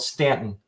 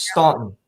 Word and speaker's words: Staunton: Because there's a town nearby here called Stanton, Mhm. Staunton, which is Staunton. 100 times out of 100, that's Staunton, Yep. but they pronounce it Stanton.